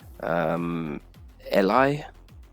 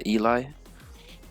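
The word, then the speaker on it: Ely: People might say Eli, but yeah, Eli.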